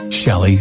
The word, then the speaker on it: Chellie: Chellie, thank you so much.